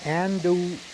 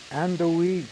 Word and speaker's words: andouille: How do you pronounce that? Andouille. Andouille.